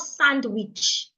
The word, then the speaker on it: sandwich: Sandwich is not sandwich. The D is silent.